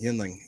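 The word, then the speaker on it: Yuengling: Yinling. Yinling. Like yin. Like you, Yinling. see, you keep saying yin. It's not yin. It's Yingling. Yin. Like Y-I-N ling. Yinling.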